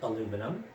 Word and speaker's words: aluminum: for instance al um we pronounce it aluminum in the united states which i'm sure you've